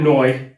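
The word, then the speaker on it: Neu!: And I know to pronounce that Noi, which translates as new again because 3 years of high school German.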